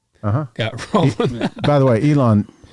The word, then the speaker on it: Elon: By the way, Elon sort of rhymes with Scubalon.